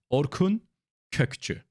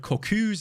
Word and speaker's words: Orkun Kökçü: Please don't listen to anyone else that pronounces his name completely wrong. It's Orkun Kökçü. All right? That's how you pronounce his name. I've heard Kokus and everything. That's not his name.